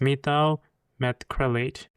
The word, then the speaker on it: methyl methacrylate: And I need to pronounce his name correctly. It is methyl methacrylate.